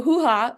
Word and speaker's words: Hoohah: So, hoo-ha rhymes with booya.